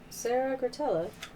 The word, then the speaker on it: Sarah Gratella: So, yeah, if you guys need to know, Sarah Gratella is how to pronounce it.